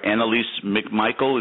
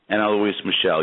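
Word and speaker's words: Anneliese Michel: Annalise McMichael, is that right? Anna Louise Michelle? Anna Louise Michelle, yeah.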